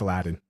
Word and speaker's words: Aladdin: No, bro, it's Aladdin. We're in America, so you're gonna say it like an American. Aladdin. Say it like you got some hair on your chest, boy.